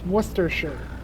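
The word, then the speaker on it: Worcestershire: really want to know how you guys pronounce Worster Shire sauce Worster Shire sauce the correct way to pronounce it wor it's it's werer I I call it another sauce that is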